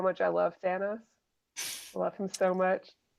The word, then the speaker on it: Thanos: And man, it just solidified how much I love Thanos. I love him so much. You called him Thanos. Get out of this episode. His name is Right. Thanos.